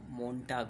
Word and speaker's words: Montag: ये मोन्टाग का जो लास्ट का एजी है, टी एजी है, इसका प्रोनाउंसिएशन आपको टाक कहीं कहीं सुनने को मिलेगा, वैसे टाग बोलते हैं। वैसे दोनों सही है, मोन्टाग और मोन्टाग।